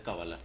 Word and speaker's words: cábala: es cábala la cábala la pronunciación correcta es cábala nosotros vivimos con ci